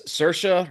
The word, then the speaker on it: Saoirse: late night talk show and she's like it's sersa rhymes with a right good to know because it